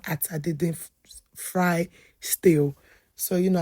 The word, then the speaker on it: atadindin: I have colleagues that say, "How do I pronounce atadindin soup?" It's called atadindin. To my friends that eat my food, but you're not Nigerians, it's pronounced atadindin.